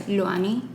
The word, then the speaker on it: Lwany: to hearing it, is Lwany. But I know a lot of people can't pronounce it that way. Yeah. So, if people are struggling, I always say think of Lou and then Annie.